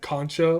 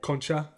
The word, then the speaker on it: concha: into saying the word I believe I said Concha last time like like a c conch yeah I believe the correct way to say it is like Concha because it's Hispanic okay but I don't